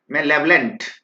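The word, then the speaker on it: malevolent: मैं इसको मैं प्रोनाउंस करने के लिए तोड़ देता हूं। This word is मेलेवलेंट, मेलेवलेंट। देखिए अब आपके लिए आसान हो गया, मेलेवलेंट मेलेवलेंट मेलेवलेंट।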